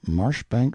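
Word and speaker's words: Marjoribanks: Pronounced Cubri Flanover Marshbanks sellers Viccount Barkley of Chumley Castle, Warkshire.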